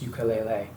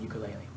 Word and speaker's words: ukulele: and apparently by the way ukulele is actually pronounced ukulele but nobody says that it sounds funny so I'm going to keep saying ukulele now there was one more instrument that would